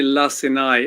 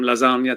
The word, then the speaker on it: Lacinai: we'll go from there lassai is my name and you're right I've been called everything from lasagna to last night so I get it it's hard work for people to pronounce that right it comes out way